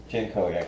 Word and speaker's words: Jankowiak: Jankowiak, that's right. Jankowiak. It's all there. You just it's all there. You just right. If you just say it phonetically, it just fits.